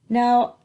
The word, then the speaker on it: know: Now, the high frequency vocabulary words, I think you're going to know this one. K-N-O-W. The K is silent. The W is silent. So what do we have left? No.